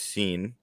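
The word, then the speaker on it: Cine: and louis lewis seen it looks like it's signed but it's pronounced scene uh georgia bulldog um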